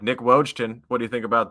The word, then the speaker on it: Wojton: No, I just try to phonetically say it in a way where people will kind of Wojton, silent J.